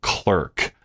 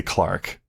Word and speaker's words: clerk: singing lovely bit of clerk, maybe for a lark. But in England, they don't say clerk, they say Clark when it's spelled that way.